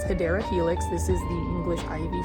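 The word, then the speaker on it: Hedera helix: This one is a Hideera Helix, or the correct way to say it is Hideera Helix.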